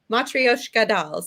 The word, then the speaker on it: matryoshka: kid the i can't pronounce them will you pronounce it for me matryoshka so the little dolls they're nesting dolls that